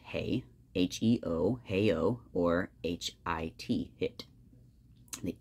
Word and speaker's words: he: wholly indistinguishable in pronunciation beginning as h e pronounced hey h-e-o-h-o or h-i-t hit